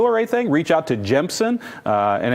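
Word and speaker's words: Gemsen: anything reach out to jemsen and it's spelled just like it sounds g-e-m-s-e-n you can find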